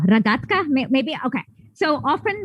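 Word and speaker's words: рогатка: It's called rogatka. No, ragatka.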